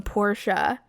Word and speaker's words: Portia: voice actors came out they called a town Porsche and I was like oh my gosh we've all been saying it wrong we've all the same